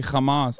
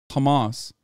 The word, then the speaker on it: Hamas: want you to know you're mispronouncing Hamas in the very particular way that Israeli officials mispronounce it. It's not a ch sound. I didn't say Hamas. I said Hamas.